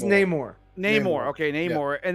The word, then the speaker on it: Namor: Is it pronounced Namor or I think Namor? It's Namor.